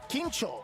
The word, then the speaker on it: Kincho: Kincho. It is Kincho, because it's spelled different.